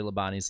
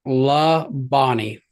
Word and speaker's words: Labonte: You can always tell when someone started watching NASCAR by how they pronounce Bobby and Terry Labonte's last name. It's like La Bonnie. I've heard it Labonte as well.